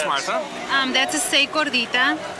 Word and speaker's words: Gordita: Gordita. You gotta roll your R's, Q.